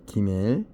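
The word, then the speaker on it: גימל: 머리부터 앞발까지 그리고 뒷다리 기밀 낙타 기역 발음이고요 낙타 성숙 뭔가 보답을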